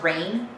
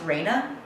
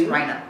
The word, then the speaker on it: Rhina: Most people think it's pronounced rain because it's spelled rain with an E on the end. Technically, it's probably meant to be pronounced Reina because it's a variant spelling of the Spanish name, which means queen. I decided to be different and difficult and go with a pseudo-oriental pronunciation, so it's Rhina.